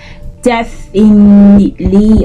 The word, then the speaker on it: definitely: Now, it's spelled DEFINITELY, and many times you hear people say things say like definitely or definitely or something, but it's pronounced definitely.